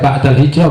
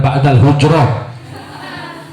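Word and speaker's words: بعد الهجرة: Awas dibacanya ba'dal hijrah bukan ba'dal hujrah.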